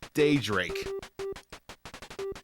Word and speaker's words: Daydrake: is, it'd be stupid, it's Daydrake. Like daybreak, but spelled with a D instead of a B.